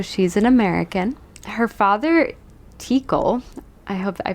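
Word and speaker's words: Teackle: an American her father tikle I hope I pronounced that right was how spell it like T like te e a and then CK l e so it's like tickle but with tea yeah he was the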